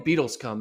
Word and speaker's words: Beadlescombe: And then Morgan Beadlescombe, man.